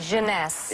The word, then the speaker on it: Jeunesse: How do you pronounce it? Jeunesse.